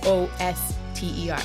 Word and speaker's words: Worcester: Well, if you spell it like it said, it's WOSTER.